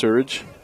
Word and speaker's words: Surridge: I believe I did about 4 different pronunciations yesterday, and luckily somebody came to the press box and let us know that it's Surridge.